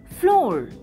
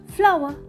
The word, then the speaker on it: flour: pot number five f-l-o-u-r don't say floor flower this is a bowl